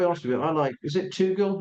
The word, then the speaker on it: Tugendhat: Is it Tugel? How do you say his name? The ex-army guy? Oh yeah, Tugendhat.